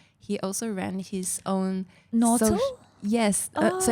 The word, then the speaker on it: Notle: Nautil? Yes. So it's Nautil, yeah. So it's Nautil, which is... it's pronounced like noble, but the B is replaced with a T because he became a Christian.